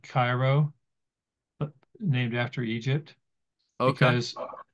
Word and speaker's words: Cairo: And it's interesting, in Illinois, Cairo, Egypt, the local people call it Cairo, not Cairo, because for whatever reason, that's how they pronounce it.